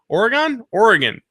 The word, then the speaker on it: Oregon: Wizard World Portland in Portland, Oregon. Oregon? That's how they say it there, I'm told.